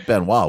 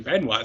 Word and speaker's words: Benoit: His name rhymes with Canois. It was Benoit, wasn't it?